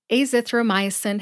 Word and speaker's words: azithromycin: the generic name first a zithro myin has five syllables a like the letter A in the alphabet